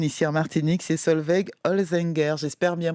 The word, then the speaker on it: Holzinger: Déjà, est-ce que j'ai bien Oui, prononcé? tout à fait, Merci. Mademoiselle Holzinger. C'est alors voilà, Holzinger, merci d'être avec nous.